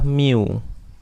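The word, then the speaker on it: μ: lambang minnya itu adalah Miu ya ini new ya Hai tulisannya mu Tapi bacanya Miu ya ini adalah rataan atau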